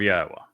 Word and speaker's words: Yahweh: Then the Debar, which is the word of Yahweh, not of Hashem, not of G-D, not of Adonai, of Yahweh. That is Yahweh's name pronounced as instructed in his Torah regarding his Hayah, existence.